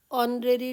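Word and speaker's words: honorary: next one he received ऑनरेरी degree ऑनरेरी एक बार फिर से एट साइलेंट तो सेंटेंस में आएगा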